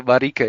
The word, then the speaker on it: Marike: So Marike, yeah, if it ends with an E in Dutch or in Flemish, my Mhm. mother tongue, it's like a soft vowel we call it. We don't really pronounce it strongly.